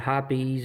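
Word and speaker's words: Hoppe's: I absolutely love, it's pronounced different ways, but I say hops #9. I've heard of hoppies or #9, whatever.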